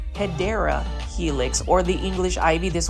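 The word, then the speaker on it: Hedera helix: And this one is our first Hedra Helix or the correct way to say it, you know, I have to say it, Hideera Helix or the English ivy.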